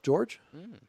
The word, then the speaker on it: Jorge: We do have another player spelled the same way, Jorge, calls himself George.